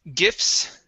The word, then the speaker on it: gifts: Next word is gifts. Right here. So the T in this word is silent. We go from the F to the S.